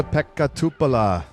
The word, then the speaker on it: Pekka Tupala: Joining us now on the Upshot is Essa Pekka Tupala, a commentator for Disc Golf Network over on the European Events.